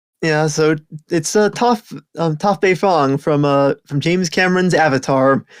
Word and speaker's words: Toph: It's the blind bandit herself, not Toph, Toph, like toffee candy.